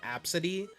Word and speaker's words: Abcde: There was this controversy a couple years back at this because this lady named her kid Absidy. But it wasn't spelled how it sounds. It's spelled ABCDE, like the alphabet.